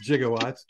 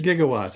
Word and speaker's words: gigawatts: about electrical power and he said jigawatts and Bill Nye said no it's not pronounced jigawatts it's gigawatts and he goes what